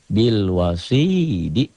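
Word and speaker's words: بالوصيد: Bil wasidi. Jika dihentikan menjadi bil wasid.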